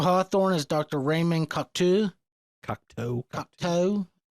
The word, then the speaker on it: Cocteau: Cocteau. It's spelled French-ish, so... They call him Cocteau, so... Cocktail.